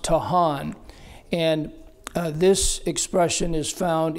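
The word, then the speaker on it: טחן: It's written T-A-C-H-A-N, excuse me, but it's pronounced Tahan.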